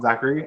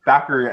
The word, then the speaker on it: Thackeray: It's not Zachary. It's Thackeray.